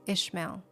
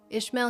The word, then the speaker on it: Ishmael: Ishmael. Ishmael's name is um Yesh. That's how you say it in Hebrew, which means God hears.